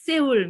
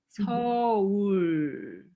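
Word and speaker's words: 서울: c'est pas Séoul, mais Seoul. On a pris O. Ouais, c'est Seoul. C'est les étrangers qui disent Séoul, mais c'est Seoul.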